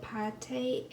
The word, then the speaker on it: pâté: chicken liver paint or pate as it is pronounced in french i got the recipes